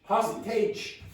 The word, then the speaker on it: hostage: Hostage. Stage. Yes, very good. The syllables are equal, but this is not how it works in English.